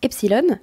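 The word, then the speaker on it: Epsiloon: des pylônes ou epsilon je crois que ça se prononce epsilon mais il y a deux eaux cette idée de magazines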